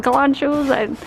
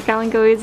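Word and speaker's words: kalanchoe: So I'm like, he's like, you want some calanchos or calancoes?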